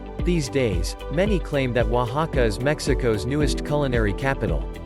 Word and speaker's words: Oaxaca: Oaxaca, pronounced Oaxaca, is both the name of this Mexican state and its capital city.